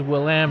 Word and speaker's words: Willamette: He was very insistent that it was Willamette.